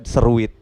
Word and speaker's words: Seruit: 24 TV itu ada Seruit. Nah, itu kan satu kata yang nyadur dari kulinernya Lampung gitu. Seruit kalau dibaca sama orang seruit. Tapi kalau orang Lampung bacanya seruit.